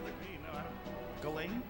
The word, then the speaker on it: Ghislaine: It's Ghislaine. Do you know? Look at me. No, I don't. Ghislaine?